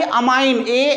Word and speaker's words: ammine: यहाँ पे देखो डाई अमाइन AMINE है और डाई AMMINE है, राइट। तो ध्यान रखना NH3 को जब हम IUPAC में प्रोनाउंस करते हैं तो बेटा इसको हम बोलते हैं अमाइन, AMMINE।